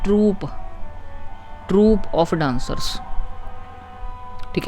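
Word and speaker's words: troupe: ट्रूप ये टी आर ओ यू पी ई इसको हम पढ़ते हैं ट्रूप।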